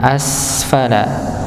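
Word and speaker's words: أَسْفَلَ: dimaksud dengan sesempurna tidak dipantolkan ya berikutnya tummaadnaahu asfala asfala ng sekali lagi ketika kita mendapati huruf Sin Ya Sukun maka dia akan tampak sifat mengalirnya asfala asfala ng jangan sampai dipantulkan asfala asfala ng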